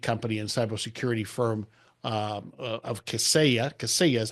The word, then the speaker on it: Kaseya: And now as GM of TruMethods, which is a leading IT company and cybersecurity firm of Kaseya. Kaseya is how you pronounce it, right?